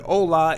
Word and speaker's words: hola: Let's say that you do not know how to spell the word hola in Spanish, which means hello. So the way to spell this word is H-O-L-A. and the H is silent.